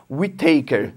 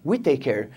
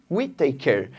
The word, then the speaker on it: Whittaker: Uma coisa interessante, eu pensava que o nome desse cara aqui era Robert Whittaker, mas não é, é Whittaker, tá?